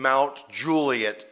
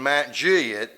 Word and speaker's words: Mount Juliet: called Mount Juliet, Tennessee, which if you're from there, you know that I'm saying Mount Juliet, Tennessee, right? And if you grow up in Matt Juliet and you say, "Hi, I'm Barlay."